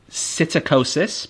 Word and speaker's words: psittacosis: can get something called psittacosis but with the silent P at the start and it's known as